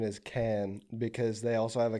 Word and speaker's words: Cannes: is the S silent? Yeah. Cannes, mm-hmm. Cannes Film Festival.